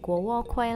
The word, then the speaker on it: Guokui: In Mandarin pronounces as guō kuī I’ve never had it before today is my first time trying it!